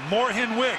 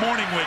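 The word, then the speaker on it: Mornhinweg: I thank you for correcting me it is pronounced Moren wig I've known this guy for 25 years and called him morning wig his entire life he says his late grandma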